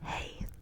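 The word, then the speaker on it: hej: Then there's two that are hey. And they're pronounced H EJ and H E I.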